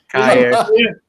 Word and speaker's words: Kjær: I mean, there was a video on Milan channel where they ask him his name and he pronounces it Kaya. So, Kaya.